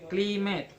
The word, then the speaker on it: climate: There are climate. Cli is stress, met unstress. And for primary stress on second syllable, there are advice is ad is unstress, vice is stress.